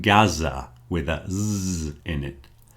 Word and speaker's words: Gaza: It's never pronounced like that in English. Okay? It's going to be a Z. So, here are some words. The first one came up in conversation this week. Gaza. Gaza.